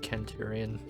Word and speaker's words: Centurion: Centurion. Although I guess it's pronounced Kenturian.